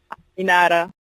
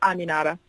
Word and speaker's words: Aminata: Aminata. Anada? That's how it's pronounced. Yeah, Aminata. I know. I go through this every day, but yeah, it's Aminata.